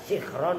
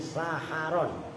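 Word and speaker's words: سَحَرًا: wahua dan bermula Sahar awas jangan salah baca loh kalau kamu bacanya sikron Ya sikir ngerti kan ini saharon jadi waktu sahur wahua dan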